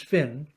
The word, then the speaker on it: Fionn: An ancient Irish tale of the warrior, poet, and sage Finn, Fionn sometimes pronounced, we tended outside Ireland to pronounce it as Finn, recounts how, when camped